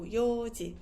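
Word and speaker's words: 四時: So 4 o'clock would be yoji. This one is, let's say, regular. So we don't say yon, we say yo. So yoji, yoji.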